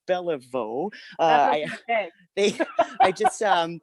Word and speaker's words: Belliveau: what's up uh and it's actually pronounced bellavo i just um it's